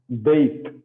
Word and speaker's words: Beit: Okay, and Beit. Okay, this is the second Beit. See, Beit, and the sound of this letter will be like B, as in a boy.